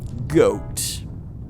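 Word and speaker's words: Goht: Time to fight one of the most fun bosses in the game, Goat. Although it's spelled weird, G-O-H-T.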